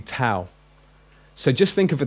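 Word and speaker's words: ταῦ: It's pronounced tau, not tor. Although when I was taught Greek, I was actually taught classical Greek. I had to learn Koine Greek later. We was taught tor, but it's actually tau.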